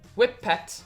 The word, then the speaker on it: Whippet: These marshmallowy treats is pronounced whip pets and means whip it furs.